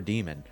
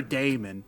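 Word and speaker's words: daemon: __ ] is a damon the greek spelling of it yeah but it's pronounced demon so yeah there you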